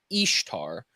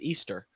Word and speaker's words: Ishtar: from the name Ishtar which would technically be pronounced like correctly Ishtar but um they say oh you say it exactly the same way her name is Easter that's how you say i s h t